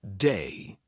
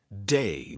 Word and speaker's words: they: Lots of English learners will pronounce it like a D. So instead of saying they, they'll say something like day. All right. So, they went to the park might sound like they went to the park. So keep that in mind. It's not a D, it's they.